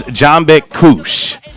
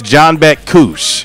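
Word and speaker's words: Canberk Kuş: And, he just goes by JB, but the way his name is actually pronounced is Canberk Kus. But it's spelled Canberk Kus, but it's Canberk Kus. Because you said in Turkey the C is a J.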